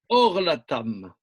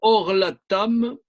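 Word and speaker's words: עָרְלָתָם: Mais il est clair que Orlatam, le premier kamatz suivi d'un shfa, ça se prononce O.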